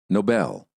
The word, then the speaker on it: Nobel: the American accent listen and repeat no Noble Nobel he won the Nobel Prize for his Noble